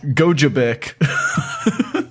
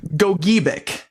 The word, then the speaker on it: Gogebic: So this is pronounced. Gojbic. Okay, you're getting a little closer. Gogebic. Gogebic. Gogebic County.